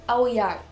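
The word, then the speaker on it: áo dài: Dans le nord on dit aozai et dans le sud aoyai.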